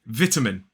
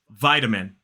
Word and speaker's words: vitamin: We would say vitamin. 3 syllables, the stress is on the first, vitamin. Whereas in American English, it is vitamin. So again, 3 syllables, stress on the first, but that first syllable has that I. And again, the pronunciation of the T is slightly different.